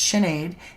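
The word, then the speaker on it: Sinéad: Sinead is my name. It's Irish. Emerald Jane says it's pronounced Sinead.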